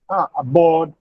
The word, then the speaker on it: aboard: The stress is on board, aboard, abroad, ahead, alone. Similarly, the inflection suffixes ed, es, and ing do not affect the accent.